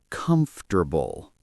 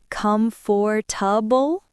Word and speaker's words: comfortable: It sounds like comfortable. Oh, not comfortable? No, it is shorter.